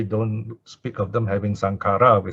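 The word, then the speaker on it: saṅkhāra: we have this word sankara so this is singular notice the last case underline it is a normal short a one count sankara okay normally we pronounce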